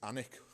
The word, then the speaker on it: Alnwick: Possibly, if you are American, you might pronounce it slightly different, but it's Alnwick, how we say it.